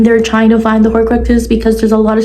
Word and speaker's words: Horcruxes: Horcruxes.